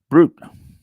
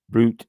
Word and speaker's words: brut: Brut, B-R-U-T, or Brut. Let's see how they pronounce it in this definition here.